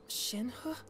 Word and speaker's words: Shenhe: Wait, Shenhe?